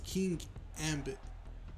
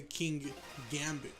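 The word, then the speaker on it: Kingambit: No, because it's King Ambit. King Ambit. But people will say King Gambit.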